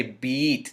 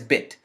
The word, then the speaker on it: bit: emphasis as this eye you just say bit you don't say beet this is the the word is bit the word is bit not beat that's a different word